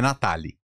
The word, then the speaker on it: Natali: É Natali. Natali. Natali, é a segunda sílaba que é a mais alta, Natali.